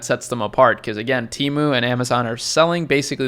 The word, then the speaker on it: Temu: they're freaking gaslighting you the name of the company is teu not temu I'm going to be